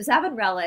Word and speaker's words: Savonarola: So Savonarola is how we say this guy's name here in the United States. It's how the American professors pronounce his name.